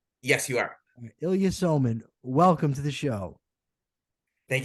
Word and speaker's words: Ilya Somin: constitutional studies at the Cato Institute Professor Ilya Ilya sulman am I pronouncing that correctly yes you are Ilya soman welcome to the show thank you for having